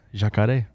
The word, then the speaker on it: jacaré: We just call them jacare, which is the Guarani word for That's how they say it in Portuguese. Jacaré.